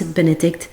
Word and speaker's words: Benedicte: I am Benedict you can pronounce Benedict like the pope but in French it's a female name or Benny like my